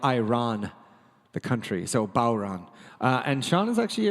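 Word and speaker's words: bodhrán: this is called close you don't pronounce the hard D it's actually a tractor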